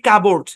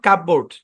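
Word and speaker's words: cupboard: শব্দের উচ্চারণ কি কাবোর্ড এখানে পিটা সাইলেন্ট কাবোর্ড নট কাপবোর্ড অরজিনালি এই শব্দের উচ্চারণ কি জানেন কাবার্ড মানে এখানে যে ও এর উচ্চারণ যে আমরা লং লং ও এর সাউন্ড দিয়ে পড়ছি না কাবোর্ড একচুয়ালি এখানে ও এ মিলে লং সাউন্ড দিচ্ছে না লং ওর সাউন্ড দিচ্ছে না এখানে সাউন্ডটা হচ্ছে কাবার্ড এরকম কিন্তু আমরা আমাদের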